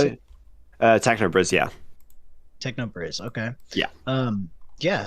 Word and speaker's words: TechnoBris: Is that how you pronounce Hello? it? TechnoBris, yeah.